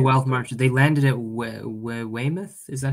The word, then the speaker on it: Weymouth: yes from the wild march they landed at weymouth is that how you say it yeah yeah